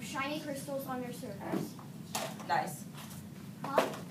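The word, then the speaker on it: gneiss: Nice. Huh? It's pronounced nice.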